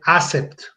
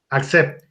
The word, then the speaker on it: Accept: lo castellanizan y dicen Accept. Bueno, para todos, si quieren decirlo bien, en inglés, que significa aceptar, o en alemán se pronuncia accept. Punto. Accept.